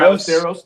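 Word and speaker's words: Ballesteros: Moises Balisteros. Balisteros.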